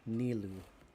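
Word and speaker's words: Nilou: will be just as impressive okay i'll remember nilu that's how you pronounce it soldiers fall into formation if you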